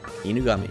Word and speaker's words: Inugami: Inugami.